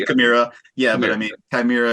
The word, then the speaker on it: Chimaira: It was kind of funny because we used to pronounce it like Chimera, like, oh man, I used to Chimera.